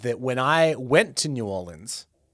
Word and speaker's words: New Orleans: real people from there say Norlands. Norlands. But I'm not authentic enough to get away with that, so New Orleans is what it is. And I will be saying New Orleans.